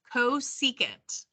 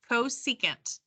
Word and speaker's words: cosecant: before okay this is um red this is pronounced cosecant cosecant this is secant and cotangent okay so the